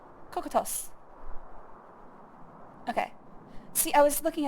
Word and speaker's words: Cocytus: Cocytos. Cocytos. Okay. See, I was looking at these IPA pronunciations, I'm like, what the hell is that?